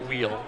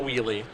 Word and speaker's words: Wheele: as well have confirmation aaron's last name is pronounced wheel not wheelie i just want to